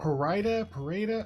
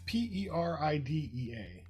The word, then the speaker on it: Peridea: It's it's not Parida. It's Peridea.